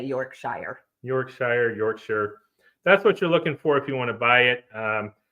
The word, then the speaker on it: Yorkshire: Yorkshire. All right. Well, So we say Yorkshire.